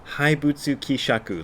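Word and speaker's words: haibutsu kishaku: let loose got unleashed and there were the haibutsu kisaku laws i pronounced it wrong when i did the earlier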